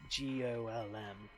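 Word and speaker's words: GOLM: be referred to by the last bit which is of course gol M much to his surprise this ends up being pronounced like Gollum anyways um a side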